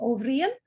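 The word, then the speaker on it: Ó Briain: famous character he was an ovrian that is how you say it in the gaelic language brian ovrian and he loved he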